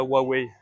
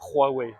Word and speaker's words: Huawei: le H se dit se prononce comme le R en français.